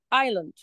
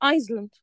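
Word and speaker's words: island: قال برض كلمه كلمه ايلاند ايلاند طبعا في ناس بتغلط وتقول عليها ايسلند طبعا كلمه ايسلاند غلط ليه لان سايل الصح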